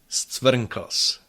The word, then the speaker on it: scvrnkls: The longest Czech word without vowels is stvrnkos. Stvrnkos. There are two syllables, and both syllabic R and syllabic L are used in that word.